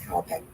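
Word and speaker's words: Hauppauge: Howapeg? That sound right? I would say that, yes. Howapeg.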